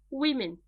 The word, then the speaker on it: women: Difference in the pronunciation. Woman, women.